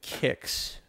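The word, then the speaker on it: Qix: Juan, the one where you draw the line is called Kicks. And it is spelt like this.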